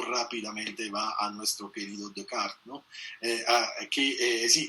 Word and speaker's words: Descartes: va a nuestro querido Decart, ¿no? Eh, aquí eh sí que aquí se dice descartes, aunque a mí me gusta mantener la pronunciación originaria.